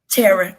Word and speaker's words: Thera: Tara, yes. The Tara, H is silent.